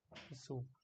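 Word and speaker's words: す: in the word okay the Sue like in the suit Su as in a Sue when you in law suit a person that's a Sue it's like that okay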